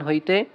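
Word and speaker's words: حاء: যেমন যেমন দেখেন ২ নম্বর মাখরাজ হলকের মধ্যখান হইতে আইন হরফটা দেখেন একটু বড় করে দেখাই আমি এই জায়গায়। হ্যাঁ, এই যে হচ্ছে আইন, তারপরেরটা হা। দেখেন কোনো নোক্তা নেই, একটা হরফেও কোনো নোক্তা নেই। তাহলে কি হবে? জিহ্বার মধ্যখান হইতে কি মানে কি কই হলকের মধ্যখান হইতে আইন এবং কি হবে? হা, এই দুইটা হরফের উচ্চারণ হবে।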